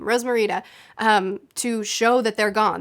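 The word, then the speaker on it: Rosmerta: down to Hogsmeade see Rose Morita Rose yeah that's how you say her name Rose Morita to show that they're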